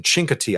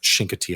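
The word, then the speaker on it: Chincoteague: Aceti Island is a lot taller uh from north to south than Chinkati Island. Shinkati Island, sorry.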